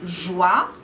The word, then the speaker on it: joie: O conjunto OI dá o som de OA, como joie, soir, pois. Joie, de alegria, pois, de peso e soir, da noite. Sempre a pronúncia OA.